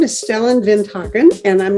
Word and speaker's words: Stellan Vinthagen: both do peace things and his name is stellin vinen and I'm not even sure I'm pronouncing it right because we are just now